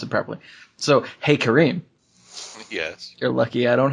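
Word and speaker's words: Karim: have to see it to be able to pronounce it properly so hey Kareem yes you're lucky I don't have a freaking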